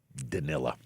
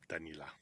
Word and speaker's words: Danila: He said the writing was on the wall for Danilla. Danila. Oh, you're insisting on that pronunciation.